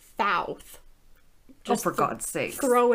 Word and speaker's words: Thoth: Egyptians believed that the god, some pronunciations differ. People say it as either Toth or Thoth.